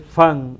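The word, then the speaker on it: van: Porque alemán sería von y es fan aquí. Ese que tú ves ahí, que se pronuncia fan. En alemán sería con O.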